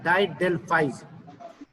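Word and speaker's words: didelphys: डेल्फाइज असल में, असल जो इसका ये प्रोनाउंस होता है डाइडेल्फाइज, DIDELPHY पोस्ट ऑफ एस।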